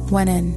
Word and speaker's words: wnn: Exist is pronounced as wenen. Wenen.